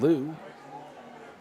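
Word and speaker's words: Leu: with number 6, Kevin Liu. Jackson's giving me a look like that pronunciation might not be right. Well, let's see what Jackson thinks it is. I'm thinking Kevin Lee. It's a L-E-U.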